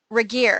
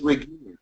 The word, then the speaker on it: Regier: Regier. Well, it's Regier.